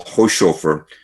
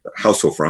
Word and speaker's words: Haushofer: There's a quote from Karl Hochhofer, who told the OSS in a post-war, did I pronounce it right? Haushofer, I'm sorry.